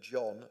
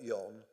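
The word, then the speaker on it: Jon: pronounced Constanza, but that her maiden name had also been written John, not Yon, on most official documents, which I had to get corrected.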